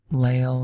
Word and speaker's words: Lale: number one April 1942 lael rattles across the countryside keeping his head up and himself to himself okay I wasn't sure how to pronounce that name it's lale is very unusual obviously